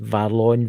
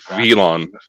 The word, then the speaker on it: Velon: I just heard Varlon. Told you he was still hanging around. Yeah, I knew he was. What's his name? Valon? I can't pronounce it. Dakota can pronounce it better than that. It's Varlon, Varlin or something like that. Varlon. I think that was them just trying to correct you. What'd they say? It was like Velon. Velon, yeah, Velon. Is Velon correct? Yes.